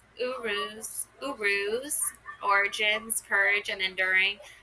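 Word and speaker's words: Uruz: Pronounce urus.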